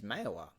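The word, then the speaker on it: Mayawah: yagara language uh it its rightful name is mayowa so I live along the banks of Mela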